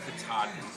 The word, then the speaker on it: Katahdin: Climbing Mount Katahdin. You pronounced it In a correctly.